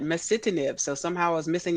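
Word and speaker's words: masitinib: uh you know i finally did get that pronunciation right mesitanib so somehow i was missing that eye and i was calling it mastinip so thank you for that i learned something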